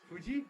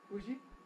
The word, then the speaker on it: Fuji: what's the name of your mountain is it Fuji or is it Fuji I don't think it matters whether it's an